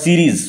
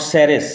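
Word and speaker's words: Ceres: যেমন Sri Lanka goddess called সিরিজ উচ্চারণ লক্ষ্য কর উচ্চারণ বানান নট সারেস সস নয় সারেস ভুল উচ্চারণ সিরিজ লিভ গডেস কলড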